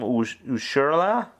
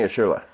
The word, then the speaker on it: Urshela: Ushurla? Giovanni Urshela.